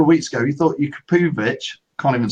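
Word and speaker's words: Jakupović: It's Jakupovic, Phil. I can't say it. I honestly felt after the League Cup and then that Jakupovic started at Fleetwood and then started in the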